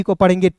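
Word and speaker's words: keep: टी आई एम ई को पढ़ेंगे time ए का क और पी का प ये सभी को पता है। डबल ई आया तो इसका उच्चारण ई के रूप में कीप और जी डबल ओ डी को क्या पढ़ेंगे?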